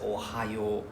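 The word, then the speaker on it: おはよう: There's no EO, right? We always say Singapore. Oh, there's no E sound. Why go E out of nowhere, right? So it's just Ohio. There's no, right? Please don't pronounce the E sound, right?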